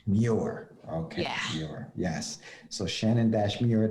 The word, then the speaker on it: Muir: i'm pronouncing it right no problem uh correct pronunciation is newer newer okay yes so shannon muir dot com and